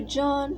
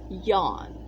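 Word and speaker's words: Jahm: people always said john john when we were in america no it's yawn like the j is pronounced like a y so it was yawn i was yawn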